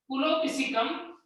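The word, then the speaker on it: Epulopiscium: में लॉन्ग होता है, पुलोपिसिकम। ई से स्टार्ट होता है, ई साइलेंट है।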